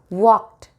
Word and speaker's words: walked: Walked, t in the ending, not jumped, walked.